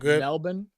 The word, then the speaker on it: Melbourne: SMI Heist three not Melbourne it's pronounced Melbourne oh Melbourne okay thank